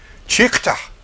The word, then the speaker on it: Teuchter: It's spelled with a T. Teuchter. Chukta.